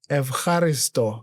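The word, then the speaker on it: Ευχαριστώ: Evaristo.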